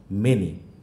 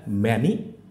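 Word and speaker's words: many: তো সেই হিসাবে এখানে পাচ্ছি হচ্ছে এনি, এখানে পাচ্ছি হচ্ছে আমরা মেনি। না, এখানে বলবো না যে এটা ম্যানি বা অ্যানি, আমরা এখানে কিন্তু দেখতে পাচ্ছি।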